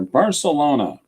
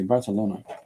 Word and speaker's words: Barcelona: talked about this before I have a friend who says balona and they pronounce th and as opposed to on the news you hear Barcelona you know but they say Barcelona I come from Barcelona and I love